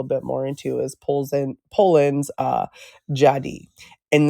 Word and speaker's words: Dziady: how it's pronounced, but it's spelled Dziady, but it's Jadi is how it's pronounced.